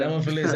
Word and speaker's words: Nemophilis: Nemophilis.